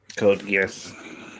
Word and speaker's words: Code Geass: Code Geass.